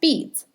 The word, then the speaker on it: BDDS: On the back of the form, you can check the box for BDDS, pronounced BEADS, Bureau of Developmental Disabilities Services, which is the organization you will mail your waiver forms to.